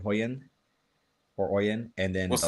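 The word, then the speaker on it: Hoyeon: an Asian actress called Hoyen or Oen. And then what's the name again? Uh, Oen because I don't know if you pronounce the H in Korea.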